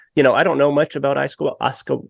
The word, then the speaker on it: ayahuasca: But, I don't know much about ayahuasca. How do you pronounce it again?